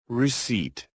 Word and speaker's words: receipt: Receipt. Receipt. Receipt. The P is all looks. No sound.